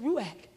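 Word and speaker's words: רוח: I said, honey, how to pronounce this word? He said, ruach.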